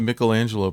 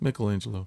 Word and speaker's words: Michelangelo: Oh, you're famous- talking about the Michelangelo painting. Yeah. Yeah. Yeah. One it of the definitely best. breaks the- Michelangelo? Michelangelo.